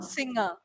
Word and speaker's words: singer: and clear right finger but when we say singer okay sing it's not singer it's singer sing singer because n and G are not two separate Sounds here it's called as diagra because it's these two letters are coming together to make one sound singer okay singer yes